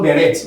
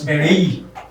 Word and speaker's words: beret: It's not beret, it's beret. So you don't pronounce T in them.